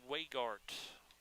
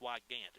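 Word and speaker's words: Weigandt: And that will be Braden Weigart. Or Wyigart, I apologize. I did not check on the pronunciation of that name, but Wyigandt. I believe it's Wyigandt, excuse me.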